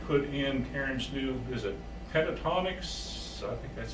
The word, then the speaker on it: Pentatonix: the TV and put in Karen's new visit Pentatonix that's how you pronounce it but Jeremy got Cameron that for